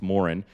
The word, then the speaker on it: Moran: it, like I apparently, according to Irish people, I pronounced my last name wrong. It's Moran instead of Moran, and like I mispronounced what was it?